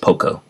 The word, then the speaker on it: Poco: It is Polocolo, but you don't pronounce it. You don't pronounce it like that. It's just Poco.